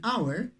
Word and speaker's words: hour: A house, that's why we used A, but in this word, an hour, H is not pronounced. It is silent, as we say, right? Now in this case, we should use N, an hour. Why? Because H is is silent, okay? It's not pronounced.